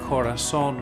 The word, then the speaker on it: Korason: So this method that has evolved, and I call the Korason method. Korason is actually a homonym, meaning it sounds the same as the Spanish word for heart, but it's spelled differently for marketing purposes.